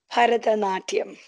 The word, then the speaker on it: Bharatanatyam: And correct me if I'm pronouncing it wrong, but Bharatanatyam, is that the dance form you learned? Bharatanatyam.